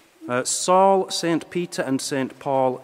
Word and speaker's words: Salle: you to Sally oh so that's how it's pronounced s a ll e Saul st.